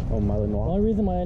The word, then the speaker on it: Malinois: Like spelled Malinois, but it's like pronounced Malinois. Oh, Malinois.